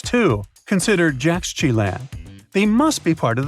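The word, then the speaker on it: Yaxchilan: And Mayan cities are hard to pronounce too. Consider Jaxchilan.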